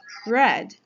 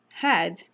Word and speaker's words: red: First is this beautiful color called red, that many times is pronounced as had, which changed its meaning completely.